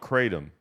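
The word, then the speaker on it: kratom: it what's the word it's called katum it's spelled with a K oh maybe c k r a t o m yeah it's uh it's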